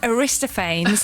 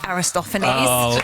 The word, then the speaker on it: Aristophanes: Now I pronounced his name Aristophanes. Aristophanes. Aristophan. Listen listen. I know. Yeah. I said Aristophanes. And my Listen. I My 10year-old son said, "Mommy, don't say that in public. It's Aristophanes."